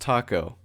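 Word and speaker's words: Tako: And she's like, "Oh, it's with a K." And she's like, "Okay, how's it pronounced?" And she's like, "Oh, no, you got it right. It's pronounced taco."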